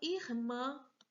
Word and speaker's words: irmã: Próxima palavra é a palavra irmã. Vê, irmã. Última sílaba é a sílaba tônica, então ela é oxítona. Escreva a palavra irmã no quadro de oxítona.